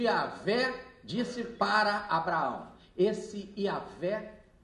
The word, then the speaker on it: Yahvé: Esse Yahvé é o que vocês conhecem como Jeová. Só que Jeová é um erro, é uma forma errada de se escrever e falar. O certo é assim.